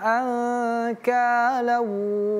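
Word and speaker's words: أَنكَالًا: Nun sukun ataupun tanwin kalau bertemu dengan huruf kaf dia dibaca ikhfa. Contoh anka anka bukan anka ladaina anka namanya ikhfa hakiki ya.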